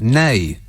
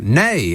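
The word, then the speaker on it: nej: yet this text says n-e-j-n-a-n-e-j is no in swedish pronounced nay uh says the caroline caroline rather in glasgow nay as in no negative no no no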